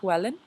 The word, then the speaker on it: Llewellyn: So before continuing, the word, I've heard a lot of discussion that people have sometimes on how to pronounce Llewellyn. The pronunciation that I just used right there is the American pronunciation, but it is a Welsh word, and so if one was to pronounce it in Welsh, it would be Llewellyn. Actually, let me get close so you can hear. So the double L sound is a, so it's like making an L and then blowing through it.